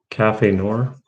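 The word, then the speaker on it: café noir: a lighthouse on there cafe noor that's how you pronounce it cafe noir yeah the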